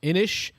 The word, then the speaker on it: Inis: corrected here on the comments uh it is pronounced inish which is gaelic for island there you go